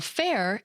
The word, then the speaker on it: faire: First, we often use apocryphy to shorten Renaissance to Ren, and yet we often spell fair, F-A-I-R-E, with the E on the end, that we don't pronounce to give it an